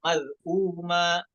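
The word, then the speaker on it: مَذْءُومًا: Nah, perhatikan pada hamzah yang berharokat dhammahnya itu ya, maz'uma. Nah, setelah hamzahnya ada huruf waw, maka hukumnya jadi mad badal, maz'uma.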